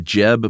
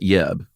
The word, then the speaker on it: Jeb: still is named Yens Jeb Bergenston uh as lead designer. Watched a few interviews with this guy. Is it pronounced Yins? It's definitely Yens, but it's also Jeb and not Yeb.